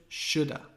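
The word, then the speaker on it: should've: Remember the pronunciation. I should have, shoulda. Would have, would've, woulda.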